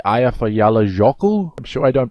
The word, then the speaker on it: Eyjafjallajökull: So let's check out this girl saying I believe it's like Eyjafjallajökull. I'm sure I don't pronounce it anywhere near correctly, but okay, so what are we doing here? It's like this. Eyjafjallajökull. Eyjafjallajökull.